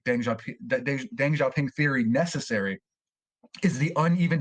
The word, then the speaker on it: Deng Xiaoping: I believe the correct pronunciation is like Deng Xiaoping, Really, but yeah, I didn't yeah.